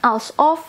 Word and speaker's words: alsof: Banyak yang bilang bacanya atau sebutnya alsof. Ya udah, saya jadi ikutin alsof. Kadang kan mungkin alsof atau, tapi ternyata alsof.